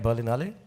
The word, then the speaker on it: Berlinale: provided us which Berlin Ali u am I pronouncing it right? Berlin Ali.